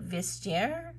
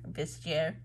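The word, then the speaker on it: Vestiaire: for 183 80 on I think you pronounced it vistaire vistaire um I think it's um French not 100 I can barely speak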